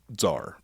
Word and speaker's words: Tzar: or what uh well this pronunciation would be zar it's t-z-a-r this is the third